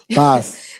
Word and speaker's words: Bas: Bas.